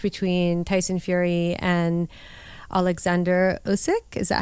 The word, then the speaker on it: Usyk: But again, there was a clash between Tyson Fury and Alexander Usyk.